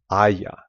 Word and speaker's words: haya: And a lot of times, because you don't pronounce the H and there's a lot of vowel sounds here, things will just run together. And you would say me haya caído.